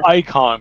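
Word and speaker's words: Eikon: For some reason, it's icon, but it's spelled E-I-K-O-N.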